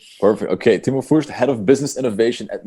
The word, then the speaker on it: Timo Fürtsch: It's Timo Fürtsch. Do I pronounce it right? Perfect. Okay, Timo Fürtsch, Head of Business Innovation at Mackevision Media and Design.